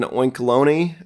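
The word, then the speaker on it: Oinkologne: and B and then oinkeloni um I think that's how you say it like it's bologna and Colony uh there's the two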